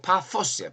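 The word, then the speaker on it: Πάφος: 세상에 바보 섬이 다 있냐 할 테지만 요거 파포스 파포스 파스 그렇게 발음하면 되는데 성경에는 바보라고 돼 있으니까 우리는 바보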